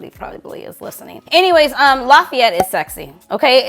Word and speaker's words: Lafayette: Anyways, Lafayette is sexy. Okay, it's called Lafayette Street. I hope I'm saying that right. Lafayette.